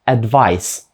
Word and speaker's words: advice: слова advise та Advice і різниця у вимові така сама як була в попередніх словах перше в кінці ніби має літеру з advise друге ж ніби в кінці має літеру S Advice ще раз перше advise друге Advice що вони означають